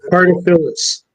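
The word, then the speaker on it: Cartaphilus: Carter Phyllis.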